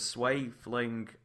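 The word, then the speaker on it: Swaythling: and were known as sway fling athletic really it spelled like thing but it's got like an L in so it's like sway fling athletic but not with the F well yeah I don't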